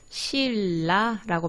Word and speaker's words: 신라: 가장 쉬운 거, 신라 볼게요. 발음이 어떻게 되죠? 신라라고 발음이 되죠. 대괄호 묶고. 자, 바뀐 의문이 뭔가요? 니은이 리을로 바뀌었죠.